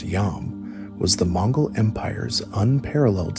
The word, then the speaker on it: Yam: The Yam, pronounced Yam, was the Mongol Empire's unparalleled system of relay stations or post stations.